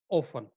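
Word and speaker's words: often: किसी भी वर्ड के लास्ट में टी ई एन हो तो टी साइलेंट रहता है जैसे ओफन.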